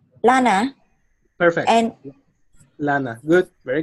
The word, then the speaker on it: lana: This is an L, not an I. So L, lana.